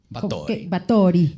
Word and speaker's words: Báthory: hecho investigando este caso descubrí que se pronunciaba tory y divas y le voy a decir porque está padre báthory báthory bator y no báthory bator y luego decir